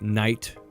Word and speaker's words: night: words that uh that had been spelled by a describes with the GH and had been pronounced in words like night laughs thought and ate so we don't say those anymore that way they're still spelled in there but we don't say it but the but by